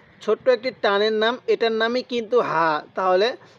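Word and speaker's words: ح: সবকটি আপনার এখানে শেখা হয়ে যায়। এরপরে হা, এই যে জিলাপির পেজের মতো যে হাটি দেখতেছেন, এই হাটি উচ্চারণের সময় মুখ দিয়ে হালকা আওয়াজ করতে হবে, তাহলে হা।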